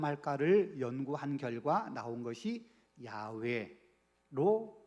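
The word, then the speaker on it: 야웨: 여호와 이렇게 이름이 붙여진 거예요 그래서 우리는 예전부터 여호와 이렇게 우리가 불러왔고 이제 신학에 발달하고 문 이렇게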